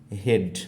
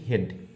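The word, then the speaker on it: head: এটার উচ্চারণ হচ্ছে কি হেড, আমরা বলে থাকি হেড। কিন্তু আসলে এখানে দেখো উচ্চারণের ক্ষেত্রে এইচটা তো নাই, বরং ই এ মিলে হয়ে যাচ্ছে ই সাউন্ড, আর ডি তার মানে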